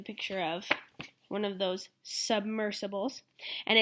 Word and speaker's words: submersibles: can use machines called submersibles there's another pronunciation OOP sorry go sub mercy Bulls to explore the deep